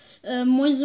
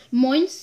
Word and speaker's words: Moinze: Moinze, man muss halt auf die Aussprache aufpassen, nicht, dass man Moins sagt.